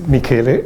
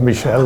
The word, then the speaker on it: Michele: My name was pronounced almost perfectly, but it's Michele, not Michelle. It's an Italian pronunciation.